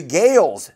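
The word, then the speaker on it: Gaels: The Gales, that's spelled G-A-E-L-S, tied it up in the 80th minute.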